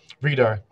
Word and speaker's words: Vridar: So long E, Vridar.